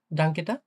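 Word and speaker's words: Danke: spelling করেন তো ভাইয়া ডাংকটা হ্যাঁ হ্যা এটা আমরা যদি বলি না যে দে এভাবে কিভাবে উচ্চারণ করব সেটা বলেন ডে আ এন কা হ্যা ডাংকে ওকে তো দেখি এরপর আসে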